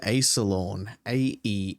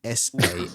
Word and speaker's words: Aesalorn: So His name's Aesalorn. Aesalorn.